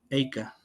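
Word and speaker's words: אֵיכָה: nombre de de bueno se pronuncia eica ea más tarde la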